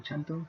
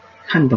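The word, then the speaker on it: xanto: Chanto, amarillo. Janto, mejor dicho, ¿no? Ajá, así es como se pronuncia.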